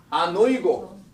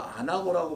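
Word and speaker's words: ἀνοίγω: 그래서 곧바로 열린다는 단어가 아노이고. 어떤 분은 이걸 또 안하고라고 발음하시는 분이 있는데 안하고가 뭔지는 아시죠, 여러분? 아유, 벌써 군침이 돌기 시작하고 그런데 이 아노이고예요.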